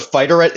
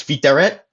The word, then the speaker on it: fiteret: It's now instead of fighteret, it's fiteret, but it's still there, and it means black.